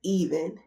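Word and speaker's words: Eveen: so the main character I want to pronounce her name as even it's spelled e v e e n so even is known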